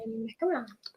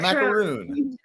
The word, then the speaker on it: macaron: A macaron. A macron. Not a macaroon. Not macaroon. Macron.